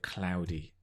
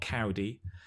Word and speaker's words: cloudy: cloudy the idea of cloudy not cowdy cloudy like the wine cloudy bay if you're into your white wines cloudy bay overcast so say with me because these are again not easy to pronounce it's cloudy you try and get the ow instead of it's not a single vowel it's a it's not a it's a yes it's a diphthong it's so it's slides